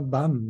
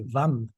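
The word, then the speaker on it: वं: petit muret, il y a écrit un tibétain bam et en réalité c'est vam. Donc pourquoi pas l'écrire en sanscrit tant qu'à faire ? Au moins, on est sûr que c'est bien la bonne prononciation.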